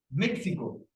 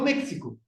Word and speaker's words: México: otra palabra muy conocida México no México México porque estaba diciendo a esa otra pronunciación entonces la x no es necesariamente o puede ser esa j Bueno ahora cuando nosotros